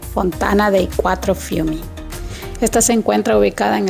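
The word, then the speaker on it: Fontana dei Quattro Fiumi: de los cuatro ríos o pronunciado en italiano Fontana de cuatro fumi esta se encuentra ubicada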